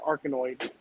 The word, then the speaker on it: Arkanoid: It's pronounced Arkanoid.